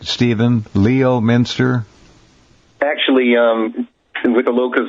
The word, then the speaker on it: Leominster: Leominster? Actually, with the locals, it's pronounced Leominster. See, I knew it. I never get those right. It's like Leicester in England, but anyway.